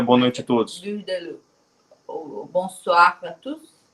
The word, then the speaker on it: Bourdaloue: Pronuncia-se Burdalu, né? Que comentou, tá ótimo esse francês. Tá ótimo. Tá valendo, né? Tá valendo. Vamos melhorar ainda. Então, pessoal, tarte Burdalu, tá?